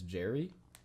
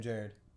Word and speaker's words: Jared: Like, so like people will be like, So they'll think- casually you'll just say Jared and people think it's Jerry? yeah, Jerry, like, hey, I'm Jared.